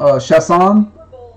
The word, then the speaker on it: Chasson: And then the funny part is, like, Louisiana people in different parts of the state pronounce the name wrong, different ways, depending how French or not. So Chasson, they can say Chasson, Chasson, but the correct pronunciation in French is Chasson.